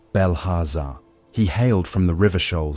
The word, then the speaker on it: Belharza: Among those who nurtured such imagination was a youth of sturdy shoulders named Belharza, pronounced Belhaza.